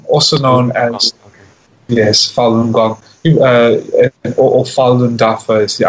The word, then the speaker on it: Falun Gong: It's pronounced Falun Gong, also known as, yes, Falun Gong, or Falun Dafa is the other name.